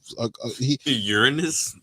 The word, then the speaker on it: Uranus: Uranus. That's how you pronounce it.